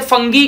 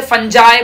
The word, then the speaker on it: fungi: आप सबको पता होगा कोई कोई टीचर इसे फंगाई कहता है, कोई कोई टीचर इसे फंगी कहता है, कोई कोई टीचर इसे फंजाए पढ़ता है, डिपेंड करता है तुम